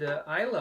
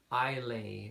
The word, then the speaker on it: Islay: Roy calm ok and Isla also looks a little unusual when you look at the word is LA why when I first saw that I thought I lay or is laying in fact isla is the connect the correct pronunciation ok let's move on